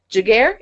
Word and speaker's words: Giguere: giddy today cuz we are talking with giguere is that yes yes that's the awesome part